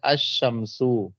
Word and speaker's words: الشمس: اور جب ایسے لفظ پر, ہاں دیکھیں, جب ایسے لفظ پر الف لام داخل ہو جس کا پہلا حرف شمسی ہو, تو الف لام کے لام کو حرف شمسی میں مدغم کر کے پڑھیں گے, یعنی لام کا تلفظ نہیں کریں گے.